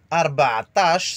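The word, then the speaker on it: ربعطاش: Arba'atash, c'est comme le bêlement du mouton.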